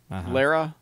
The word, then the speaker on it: Lara: Lara. Lara. I subscribe to the Lara Croft Yeah. school of pronouncing Lara.